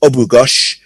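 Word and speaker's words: Abughaush: b u g h a u s h pronounced obugash win for his country's first olympic medal in 2016.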